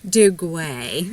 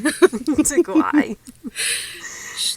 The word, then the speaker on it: Duguay: We're taking It's pronounced Shirley. Duguay. Duguay.